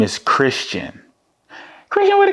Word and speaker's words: Khristian: is Christian wh and it sounds like it's with a C when you just say it Christian and my name always